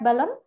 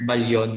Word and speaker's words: Ballon: Ballon? It is pronounced Balyon, ma'am.